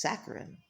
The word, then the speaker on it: saccharine: I'm going to go uh double check the pronunciation of that one. Okay, that is saccharine.